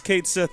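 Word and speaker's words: Cait Sith: It's Kate Sith, everyone. I think it may be time. I don't care if it's not pronounced that way in its language of origin. The Japanese have dictated it so, and they made the game, so...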